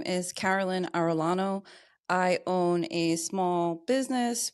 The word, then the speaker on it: Arellano: you got my name right it is Carolyn Arellano there we go we were talking about uh